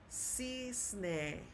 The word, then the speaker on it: cisne: So the letter C, when paired with the letter I, will also sound like an S. Let's look at an example. We have this word, which is pronounced cisne, cisne, okay?